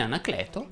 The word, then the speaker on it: Anacleto: gabriele la pa aperta in anacleto la e va aperta ecco una testimonianza o